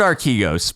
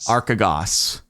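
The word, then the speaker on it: Archegos: I was singing it I've heard our kegos primarily okay it's definitely not archigos I believe that's Kathy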